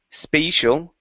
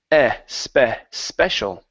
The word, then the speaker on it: special: So this this is going to be a short E sound. So instead of saying spatial, it's special. Special.